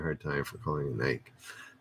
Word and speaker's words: Nike: Somebody gave me a hard time for calling it Nike. Nike is correct.